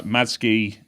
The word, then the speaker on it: Matsuki: It's It's written Matsuki, Madski is apparently how you're supposed to say it.